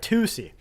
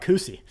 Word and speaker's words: tusi: the pink Co tusi that's right tusi why do I want to call it cusy uh so toi yeah